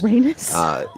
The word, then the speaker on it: Rhaenys: Okay, so it's like Rhaenys. penis. Rhaenys.